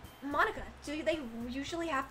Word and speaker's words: Monica: name at all exactly because in Japanese it'd be mo nica but for this paym it's Monica also that joke makes